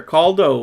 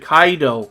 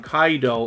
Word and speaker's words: Kaido: and family members here caldo good to see oh is it kaido sorry i pronounced that wrong kaido and deep society yt